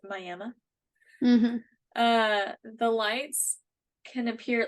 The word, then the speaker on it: Miami: Looks like Mm-hmm. Miami for those who are not from here, but it's pronounced Miami.